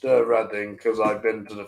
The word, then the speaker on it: Reading: It's pronounced Reading because I've been to the festival there a couple of times and it rules.